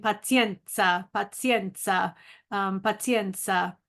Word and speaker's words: pazienza: paen and I walked Around All Day saying Penza Penza um Penza not to remind myself to